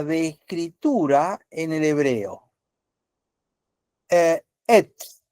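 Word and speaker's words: עץ: Et sería la pronunciación.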